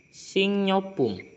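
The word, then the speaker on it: 식료품: Emang tulisannya Sikriopum, tapi lebih enak dibacanya Singyopum. Singyopum.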